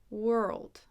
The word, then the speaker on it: world: but now you have world world just like girl it's a L but that we added D at the end so even though it's